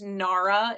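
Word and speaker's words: Gnara: Um, there's also a company named Nara. It's spelled G N A R A.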